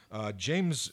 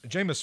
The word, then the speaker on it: Jameis: over to Tampa Bay James Jameis Winston I got that quarterbacks pronunciation for Jameis Winston injured